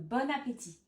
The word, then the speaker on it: bon appétit: On fait la liaison, donc on prononce bonne, bon appétit.